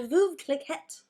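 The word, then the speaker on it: Veuve Clicquot: Oh, no, we're drinking the yellow label, the Veuve Cliquette. That's how you say it.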